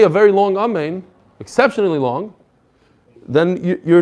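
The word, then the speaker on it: אמן: Instead of saying amen, you say imen, imen. Basically, you're not pronouncing the word correctly. Ketufa means that you drop the nun at the end. You say amay instead of amen.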